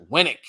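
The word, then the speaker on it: WNEC: oh look at that W NEC pronounced w winck I like that winck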